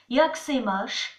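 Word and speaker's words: Jak se máš: Alors, ça s'écrit Jacques Semash, Jacques Semash, mais ça se prononce Yaksemash.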